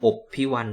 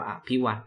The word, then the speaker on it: อพิว: ข้า อุตส่าห์ มา เคารพ อพิว ตรง นี้ อ่าน เอื้อ สัมผัส นะ ครับ ไม่ อ่าน ว่า อภิว อพิว เพราะ จะ ได้ คล้อง จับ คำ ว่า รบ นะ ครับ ด้วย ตัว